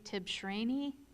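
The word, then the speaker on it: Tibshraeny: you thank you our next speaker is J tips rainy forgive my mispronunciations mayor city of Chandler and if you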